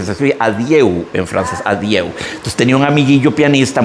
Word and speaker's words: adieu: Ya yo les había contado, Vals de l'adieu, que se escribe adieu en francés, adieu. Entonces tenía un amiguillo pianista muy, no sé, decía el Vals del Audi, del carro a Audi, imagínense ustedes.